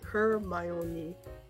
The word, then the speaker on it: Hermione: say anything because spoilers her as in the word her my as in my friend oh and me pronounce me share my own name here hermione maybe i can't